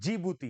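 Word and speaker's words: Djibouti: Eritrea इथियो या और जिबूती हां जी बूटी में डी आता है डी साइलेंट होता है तो यह हउ दीज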